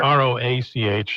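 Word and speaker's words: Roche: By the way, it's not R O A C H. It's R O C H E, but it's pronounced Roach.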